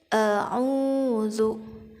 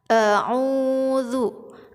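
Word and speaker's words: أعوذ: tengah maka dari itu ketika kita mengucapkan huruf hamzah dan Ainun yang berdekatan harus hati-hati a'udzu a'udzu a-star lah itu aw Kebanyakan orang membacanya itu airnya tidak jelas huruf Ain jadi tidak mengeluarkan hak-haknya huruf Ain a'udzu ya wuzu cool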